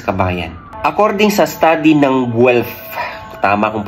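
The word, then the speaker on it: Guelph: meron sa sibuyas kabayan according sa study ng guf tama kong pronunciation yyan g u e l PH h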